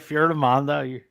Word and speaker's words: Fiordimondo: You're right, Fiordimondo.